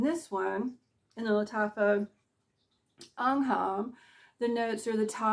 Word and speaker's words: Angham: Anam B lataa I keep wanting to say angum uh here in the South they would pronounce This angum I Swear but it's Anam so we know that this is supposed to